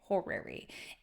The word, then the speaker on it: horary: Yeah, it it's it's spelled H O R A R Y. horery and it has the same root word as hour.